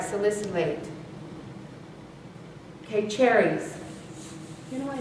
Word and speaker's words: salicylate: by the way yes you're saying it right salicylate okay cherries you know i know these two